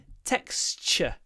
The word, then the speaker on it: texture: text of this material texture what I like about this word is it's text Tex uh so we see XT but we say KS c h texture the texture